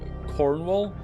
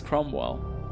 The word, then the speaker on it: Cromwell: I keep meaning to say like Cornwall, but it's Cromwell.